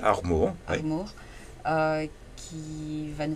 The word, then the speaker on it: Armour: Nous avons avec nous aujourd'hui Armour, c'est bien Oui, prononcé? Armour, oui.